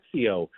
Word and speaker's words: XXIO: are some really cool Brands like Zio uh which is spelled xxio people seeing us on